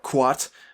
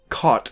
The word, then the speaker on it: Kuat: some kuat drive yards somebody has fixed my pronunciation of the term quat the work wat I've said caught in my last video and i have since corrected it although personally i prefer the word caught over kuat quad sounds like some